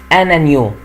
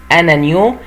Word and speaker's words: agneau: بعد كده في ابنهم بقى اسمه انانيو، انانيو اللي هو الخروف الصغير، اسمه ايه؟ انانيو، انانيو. وخلي بالي ان هنا الجي ne se prononce pas، ما بنطقش الجي، يبقى هنا انانيو اللي هو الخروف الصغير.